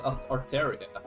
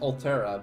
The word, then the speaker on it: Arteria: I don't remember it being pronounced as Arteria. I assumed it was. I thought it was pronounced Altera, but I guess not.